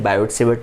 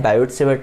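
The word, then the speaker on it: Biot–Savart: तो चलिए बच्चों मैग्नेटिक फील्ड निकालने का ठेका किसके पास है, बायोट-सेवर्ट लॉ के पास।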